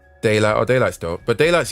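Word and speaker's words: Daylyt: But lyrically, lyrically, no one can deny that Daylight is lyrically talented for sure.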